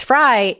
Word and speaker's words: Fry: A lot of people put an E on the end of it, which I didn't really care because it doesn't change the pronunciation of it. It's Fry either way.